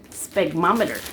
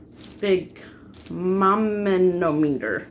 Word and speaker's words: sphygmomanometer: I had to get a, okay, nursing quiz, sphygmometer. Is that how you say it? Yeah, sphygmomanometer. I thought it was a sphygmometer.